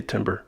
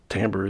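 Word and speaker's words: timbre: confession sometimes I say timber sometimes I say tamber I think tamber is the correct uh french-based pronunciation but Timber has become okay too a little bit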